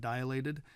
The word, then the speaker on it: dilate: A lot of times people pronounce the word dilate as dilate. They say their eyes got dilated. That's not correct. It's just two syllables, dilate.